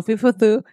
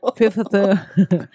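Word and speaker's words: Fifth: 더 피프스 애비뉴 호텔이에요. 핍스 네. 애비뉴. 네. 더 앞에 나오는 더와 피프트의 TH는 다른 발음이 납니다. 더 피프스.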